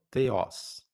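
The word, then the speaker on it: θεός: E essa palavra aí, então theos. Theos. Simples, uma vez que você sabe que a letra teta tem o éilon, o ôicron e o sigma final theos, que é a palavra Deus.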